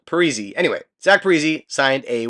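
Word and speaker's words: Parise: heard in a while Zack periz or sorry Zack perzy I remember people used to call him P then I guess he came out and said it should be pronounced pzy anyway Zack pzy signed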